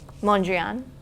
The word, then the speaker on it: Mondrian: Mondrian. Mondrian?